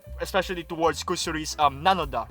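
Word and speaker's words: なのだ: yep or whatever, right, the Japanese way of sounding it or pronouncing it rather is meant to make it, nanoda, right?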